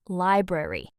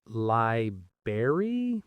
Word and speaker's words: library: Oh, is it not li-bary? Because I feel like I hear that everywhere, even from native speakers. You do hear it a lot, and that's actually the informal or sort of lazy pronunciation. The correct, careful way to say it is li-brar-y, two clear r sounds.